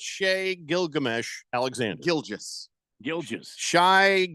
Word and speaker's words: Shai: just a nerd but like his name is Shay and yeah Shay not Shai so it's Shay Gilgamesh Alexander Gil Giles Shai gilan Alexander no